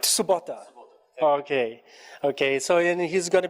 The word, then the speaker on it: Tsubota: I need to practice my Japanese pronunciation. All right. Makoto Tatsubota. Right. Tsubota.